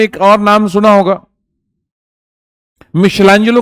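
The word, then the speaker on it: Michelangelo: माइकलएंजेलो कह लो, spelling माइकलएंजेलो होती है, मिशेलांजेलो बोलते हैं।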